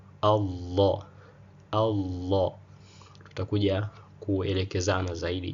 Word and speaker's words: Allah: Hamzatul wasli mara zote huwa inawa fatha. Kwa hiyo hapa inatamkwa a Allah.